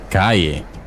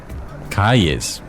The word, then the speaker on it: calle: Calle is spelt with 2 L's. In Spanish, we pronounce 2 L's as a Y sound. But this actually varies. In Argentina, they pronounce 2 L's as ja. In Colombia, it's pronounced like a ja. So calle would be calle. Have this in mind, as I tend to pronounce the double L like ja.